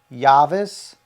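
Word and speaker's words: Javis: Um, we're two blocks behind the Superle in Leaz and it's called Tacos Yavis. It's spelled J A V I S.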